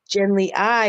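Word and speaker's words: Genly Ai: about a guy named Genly I who goes to far, far, far away, travels many light years to get to a land of androgynous beings. And Genly I, it's spelled AI actually.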